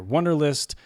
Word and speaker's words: Wunderlist: WUNDERLIST, and that's spelled with a U, WUNDERLIST for the Mac.